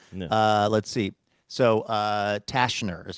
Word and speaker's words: Tashner: The T is silent. No. Uh, let's see. So, uh, Tashner is how we're saying this.